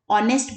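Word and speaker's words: honest: है similarly ऑनेस्ट इसको ऑनेस्ट नहीं बोला जाता ऑनेस्ट बोला जाता है तो साइलेंट है यहां पर एंड ऑनेस्ट मान्य वाटेवर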